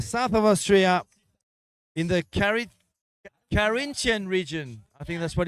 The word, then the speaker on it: Carinthia: of Austria, in the Carinthian region. I think that's what it's called. Kinton. Oh, I see. Hey. How do you say in English though? Carinthia. So not Corinthia, but Carinthia. Carinthia.